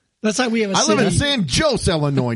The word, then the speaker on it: Illinois: No, there's no s at the end. That's how we have a I live in San Jose, Illinois. Not Illinois, you idiot.